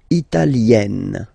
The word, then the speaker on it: italienne: L'Italie, italien, italienne. Remember, when you get this followed by a double consonant like here, then you will have to open it. Italienne, italienne.